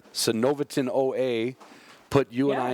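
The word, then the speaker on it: Synovetin: I'm glad that Cenovatin, and I said it wrong when we started. Cenovatin OA put you and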